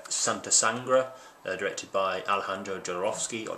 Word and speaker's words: Jodorowsky: sangra directed by Alejandro jorovsky or jarowski it's it's spelled with a W I think it's pronounced with a v there's still a little